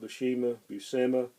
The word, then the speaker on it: Buscema: Or somebody might correct me on the pronunciation of that. I've heard a lot of people call it Buscema, Buscema.